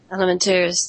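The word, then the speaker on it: Alimentarius: what I mean, with Codex I can never pronounce the last part of that, but was that Elementarius? Elementarius, thank you.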